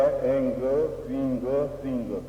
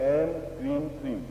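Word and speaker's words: ऐं क्रीं श्रीं: मैंने बोला एंग क्रींग श्रींग, आप ऐसा बोल सकते हैं एंग क्रीं श्रीं, वो गलत है। म की ध्वनि नहीं होगी, ग की ध्वनि होगी।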